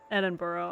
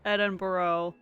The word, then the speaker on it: Edinburgh: Hopefully, it's the most, hopefully it's the most of the bars in Edinburgh. Okay. Yeah, I would imagine that Edinburgh, if I'm pronouncing that correctly, that Edinburgh does have a lot of bars.